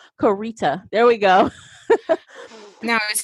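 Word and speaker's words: Koryta: I guess he wrote 14 books under Michael Koriota or Michael Cor Korita. I'm sorry. He actually has a phonetic pronunciation of his name, Korita.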